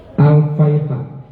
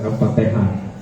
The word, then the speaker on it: Al-Faiha: Ini cara bacanya ya. Al-Faiha, bukan Al-Fatihah.